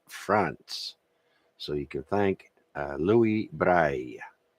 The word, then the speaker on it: Louis Braille: So you can thank Louis Braille. In French, it's pronounced like that.